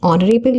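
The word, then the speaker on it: honourable: बट नहीं ऑनरेबल का pronunciation ओ से स्टार्ट होता है।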